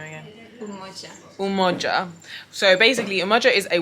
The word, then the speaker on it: Umoja: Umoja.